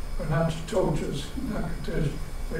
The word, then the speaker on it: Natchitoches: If I suggest if you ever make a trip and you go to Natchitoches, or Natchitoches, Natchitoches, they pronounce it, you'll see that what a rugged country it was and how difficult it is to go through there.